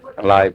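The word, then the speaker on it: Leib: i l e i b how do you pronounce that LE live live okay live is in the okay live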